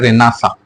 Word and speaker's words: Renaissance: भी बोलते है ना रेना सेंस स्पेलिंग ऐसे लिखी जाती है लेकिन ये होता इसका प्रोनंसिएशन रना सा है क्योंकि ये क्या है फ्रेंच वर्ड है देखो क्वेश्चन ये भी